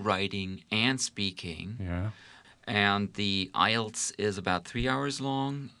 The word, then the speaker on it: IELTS: to the toefl which is called called ielts ielts you pronounce it that way and there again you